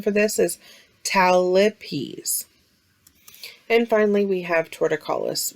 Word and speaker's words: talipes: in rare occasions can be acquired remember the pronunciation for this is talipes and finally we have torticollis which is a